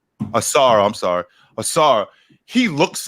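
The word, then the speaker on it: Ausar: Now, I understand that I keep getting his name wrong. Asua, is that how you say his name? Asar, I'm sorry.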